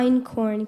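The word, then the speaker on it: einkorn: tough one here in round 19n very impressive in corn can I have the definition please a one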